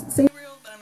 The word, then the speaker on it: Sabriel: my favorite book is sabriel of course i pronounce it sabriel but i'm not going to split hairs over